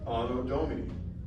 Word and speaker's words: Anno Domini: Anno Domini. That's how you want to pronounce it. You want to use church Latin, you want to use like classical Latin.